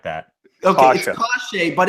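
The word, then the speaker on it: Kase: then we have guys like how do you pronounce his name case Chase cache a hard shot like that awesome gosh a but it's spelled case so that's why I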